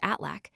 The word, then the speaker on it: Aslak: Aslak is in the north pronounced Atlak, and sometimes taken for